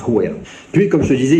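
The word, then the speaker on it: Huayra: Et oui, effectivement c'est et ça se prononce Hira.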